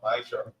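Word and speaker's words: מעשר: Means 10 in the Hebrew and pronounced Maisha.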